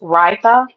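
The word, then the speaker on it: Raidho: The second one was pronounced Raitha, even though it's spelled like Raid Ho. That's not what it is.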